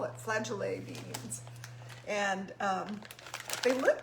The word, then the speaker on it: flageolet: i had it uh i think it's pronounced flagellae like cassoulet so we're going to call it flagellae beans and um they